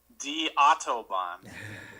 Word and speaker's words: Die Autobahn: And then I think, came up with the name of the song, too, which is Die Autobahn. Correctly pronounced, yes.